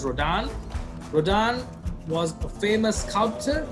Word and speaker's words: Rodin: So Auguste Rodin, although it's written as Rodin, it's pronounced as Rodin.